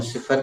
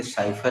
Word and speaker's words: cipher: तो ये उर्दू से लिया गया शब्द है, उर्दू में सिफर कहते हैं, अंग्रेजों ने उसका उच्चारण बदल के साइफर कर दिया है।